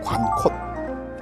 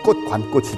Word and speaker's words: 관콧: 관곳이라고 쓰면 제가 발음은 어떻게 발음이 되냐면 관꽃이 되거든요. 근데 제주도에는 절대 여기를 관꽃이라고 안 해요. 관콧이라고 얘기를 합니다.